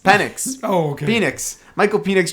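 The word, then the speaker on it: Penix: How do you say his name? I think it's Penis. No, no, it's X. Pennix.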